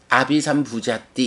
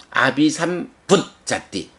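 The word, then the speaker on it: abhisambujjhati: 그래서 요거 아비삼부자띠 이렇게 받침 없이 아비삼부자띠 이렇게 읽는 게 아니고 아비삼붓자띠 앞에 있는 제이는 받침으로 들어간다. 그래서 아비삼붓자띠 이렇게 되고요.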